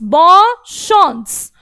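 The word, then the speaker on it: bonne chance: रहे, best of luck, बस इसका बोलने का प्रोनाउंसिएशन बदल गया, बॉशॉन्स। चांस ना बोलकर हमने बोला शॉन्स, शॉन्स।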